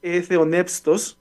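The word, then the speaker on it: θεόπνευστος: En 2 Timoteo 3:16, la palabra inspirada, perdón, de hecho es theonepstos, así se pronuncia en el griego, que literalmente significa exhalada de Dios.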